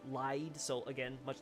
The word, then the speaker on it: Lyde: it's a bit harder to tell in the English version, but the Japanese is spelt like light, except with like a D sound instead. So it's for lied.